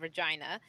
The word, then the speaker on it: Regina: city we have a city called Regina and there was an ad campaign called Regina the city that rhymes with fun and they were forced